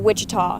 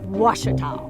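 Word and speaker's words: Ouachita: for wasita Baptist University back in Texas everybody pronounces it witch but really it's wash was was how would you pronounce it wash it's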